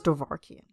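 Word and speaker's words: Dovahkiin: Yeah, so I'm thinking it was Dovahkian.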